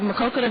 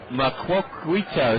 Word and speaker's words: Maquoketa: Harry Carey tried to pronounce it once and said Maquoketa or something.